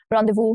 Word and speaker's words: rendezvous: Rendezvous, again, letter S is silent here.